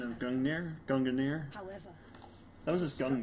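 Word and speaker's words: Gungnir: no longer signifying the end so the actual pronunciation of Gunner gungunir however that was this young mirror did not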